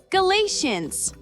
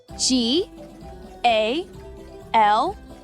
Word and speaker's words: Galatians: Next up is Galatians. Let's spell it together. G-A-L-A-T-I-A-N-S.